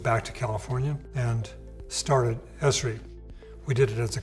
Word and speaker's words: Esri: they make while they're starting a company I pronounce it Ezri recently Forbes famous American magazine reported history as